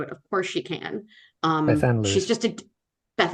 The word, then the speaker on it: Bethan: And I know how to pronounce it. It's not Beth Ann.